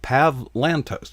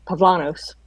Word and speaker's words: Pavlantos: pronounce that yeah very he doesn't even pronounce the t he he actually kind of says it like pavlanos that's how he says